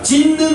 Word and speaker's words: 찢는: 그러면 이해의 차원에서 하나만 더 해보면, 자, 찢는 봐보세요. 찢는. 하나, 둘, 셋, 넷, 다섯 번째. 찢는을 보면 뒤에 니은 때문에 앞에 시옷이 발음상 바뀌었죠. 네. 그러니까 역행 동하지. 네. 근데 바뀌었는데 똑같이 니은으로 바뀌었죠.